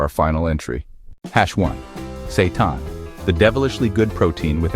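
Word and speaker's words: seitan: Satan, the devilishly good protein with angelic benefits. Yes, it's pronounced Satan. And no, it's not evil.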